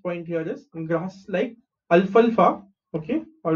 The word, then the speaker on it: alfalfa: Next and the last point here is grass like अल्फल्फा. Okay how do pronounce this, L इज अल, एफ ए इज फल एंड एफ ए इज फा.